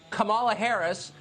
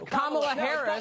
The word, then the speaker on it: Kamala Harris: you're not allowed to criticize kamala harris or kamala harris or whatever no because it's kamala harris whatever okay look i